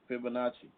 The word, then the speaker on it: Fibonacci: bar is I say it right the F Fibonacci what is it Fibonacci yeah Fibonacci bar yeah that's the Fibonacci see this is